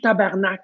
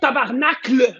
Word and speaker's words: Tabarnak: Si on écrit tabarnak, est-ce qu'on peut l'écrire comme il faut, s'il vous plaît?